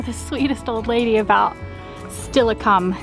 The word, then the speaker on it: Steilacoom: sweet old lady about stillicum is how she said to pronounce it we got to make